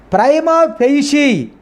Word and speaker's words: prima facie: Here I have to underline prima facie. Prima facie. We should pronounce here facie. The sound sha is pronounced.